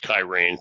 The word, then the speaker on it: Cyrene: Cyrenaica, that's the Simon of Cyrene from the Gospels. It's the Greek town. Sometimes it's pronounced Kyrene, but it no longer exists.